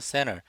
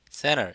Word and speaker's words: center: located, T 발음 R로 바꾸고 몸 사이에서 center, N 다음에 T 생략해서 center, located, center 이렇게 발음한 거 기억하시고요.